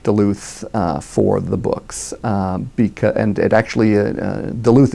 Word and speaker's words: Duluth: same way yes I wanted a setting like Duluth for the books beacon Duluth is named after